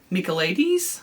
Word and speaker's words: Michaelides: Another one I listened to that I just finished was The Silent Patient by Alex Michaelides, I believe is how you pronounce his last name.